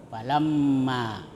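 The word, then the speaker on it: فلما: Kemudian ee berikutnya ada kata adat ya matsaluhum kamalilladuqadaron ya falamma ah di situ ada mim bertasdid ah itu ee hukum bacaannya gunah gunah itu mendengung falamma kemudian ada adat ya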